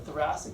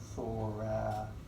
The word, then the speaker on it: thoracic: Thoracic. Practice spelling, practice pronouncing. It's not thoracic, right? It's thoracic. But don't spell it S-I-C.